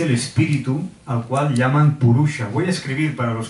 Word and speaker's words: Purusha: Y esto es Purusha, Sha es una S retrofleja, ahora no me voy a extender.